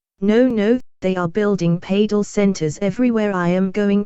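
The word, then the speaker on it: padel: Pedal, pronounced parardell, is a high energy hybrid of tennis and squash.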